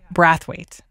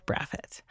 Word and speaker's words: Brathwaite: So it turns out that Colin actually pronounces his last name Brathwaite, not Braffett.